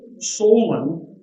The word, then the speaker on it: Solon: Solon, that's the way it's pronounced.